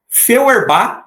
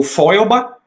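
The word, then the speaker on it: Weber: Feerba ou Foba, se for pronunciar mais alemão, né? Mas eu vou ficar com Feerbá, que é o jeito que eu vejo a maioria dos sociólogos no Brasil falando.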